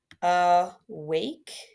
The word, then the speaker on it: awake: Because it's a schwa, awake.